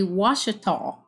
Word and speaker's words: Ouachita: Arkansas and I had to look up the pronunciation of this name how to say this it's actually Washita from what I could find and so I